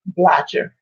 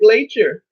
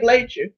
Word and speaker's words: Blacher: But when a person sees my name, they just say Blatcher. They say, "Is that how you pronounce your name?" I said, "No." I said, "No." I say, "You pronounce it Blacher."